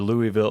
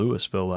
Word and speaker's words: Louisville: He came from Lewisville or Louisville, Illinois. I think they call it Lewisville out there, though.